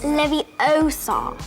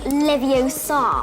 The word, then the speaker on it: Leviosa: It's Leviosa. Not Leviosa. Vengian Leviosa.